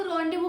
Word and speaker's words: rendezvous: क्या आपको रॉन्डेवू की स्पेलिंग पता है?